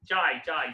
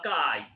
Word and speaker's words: chi: চাই CHI চাই, এটা উচ্চারণ হচ্ছে CHI, চাই চাই বা কাই।